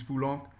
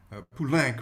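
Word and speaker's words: Poulenc: dialogue de carmelite by francis fulong pulank rather it's how you pronounce that uh song in french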